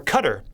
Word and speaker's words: Qatar: after the UAE was guitar or Qatar as this actually pronounced and it turns out